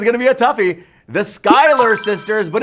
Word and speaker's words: Schuyler: now this is gonna be a toughy the Schuyler sisters but it's spelled destroy ler sisters all we lost a